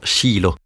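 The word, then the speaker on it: Shiloh: messianique pour Jésus d'accord en anglais nous disons Cho et en hébreu on prononce Shilo parfois je le prononce comme en hébreu mais bon ce n'est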